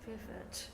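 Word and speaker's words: Verwoert: How do you pronounce it better than I do? Veervert, yes.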